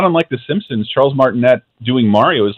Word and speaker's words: Martinet: Yeah, I hate to be a geek here, but it is the French pronunciation is Martinet. Martinet. Charles Martinet.